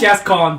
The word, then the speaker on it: Gascoigne: It's Gascon, but it's spelled Gascoigne.